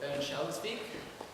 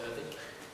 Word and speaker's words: Örnsköldsvik: to Orienteering in Sweden, a place called Örnsköldsvik, which is how most of them pronounce it. Some of them pronounce it another way, but most people just call it Örnsköldsvik.